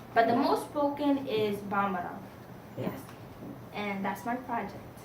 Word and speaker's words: Bambara: But the most spoken is Bambara.